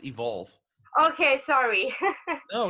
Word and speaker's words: EVQLV: much for having me by the way it's pronounced evolve okay sorry oh it's totally fine I mean